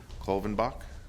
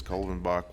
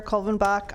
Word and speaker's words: Colvin Bach: take it or wrong cloven Bock my name is Colvin Bach will be best Chaves hi I'm Calvin Bach I live in Rancho